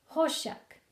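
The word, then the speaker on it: חושך: Darkness, hoshek, hey, shin, kof, h, sh, k. To pronounce the words, we have to dissect the individual letters. Hey becomes ho, shin becomes she, kaf becomes k. Hoshek.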